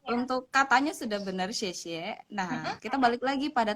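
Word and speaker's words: 谢: Untuk katanya sudah benar xie. Nah, kita balik lagi pada ton tadi, pada shengtiao tadi. Xie itu ada pada ton yang keempat.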